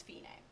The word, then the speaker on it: fine: this pronounced Fein a it looks like fine but it's an Italian word again so we're gonna pronounce it with the Italian pronunciation which is fee name so the word feeding